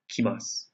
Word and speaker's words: kimasu: Kuru becomes kimasu. So the one thing you have to remember is that this character, even though it looks the exact same, changes from ku to ki. Kuru, kimasu.